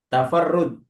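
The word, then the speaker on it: تفرد: Tafarrud. Ini asalnya apa, Pak? Anu, fiilnya apa ini? Kenapa kok bacanya tafarrud? tafa'ala Ustaz. Tafa'ala, betul. Tafa'ala, masdarnya tafa'ul. Berarti bacanya tafarrud, gitu ya.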